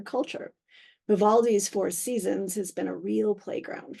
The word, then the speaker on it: SZNZ: of four albums entitled Seasons we had a little controversy in the office about how to pronounce that but we do believe it is seasons and not Seasons there is some question